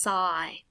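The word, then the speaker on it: 歳: is this word here which means age or years old and it's pronounced sigh so all together it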